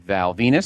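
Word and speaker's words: Val Venis: Val Venus. Rhymes with penis. Which he does not say. Hmm. Rhymes with penis. He does not want it to rhyme with penis.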